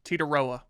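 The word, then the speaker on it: Tetairoa: Uh Teterioa McMillan Titoa.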